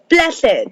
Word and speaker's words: Plassey: Plassey, the battle of Plassey. Okay, it was the battle of Plassey.